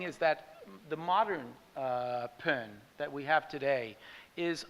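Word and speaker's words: Bon: in older texts of pen and there it's spelled b-o-n but it's pronounced pen um and there are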